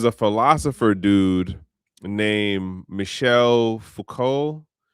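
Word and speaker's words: Foucault: Then there's a philosopher dude named Michelle Fuko. His name is French. It it just the letters don't do anything for how it just is pronounced.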